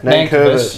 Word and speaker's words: Nankervis: Nankervis. Nankervis. What is it? Nankervis. Nankervis. You kept saying that. I've never heard it's pronounced like that.